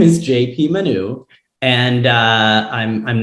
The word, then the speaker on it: Manoux: My full name is Jean-Paul Manoux. Oh, wow. With a silent X at the end.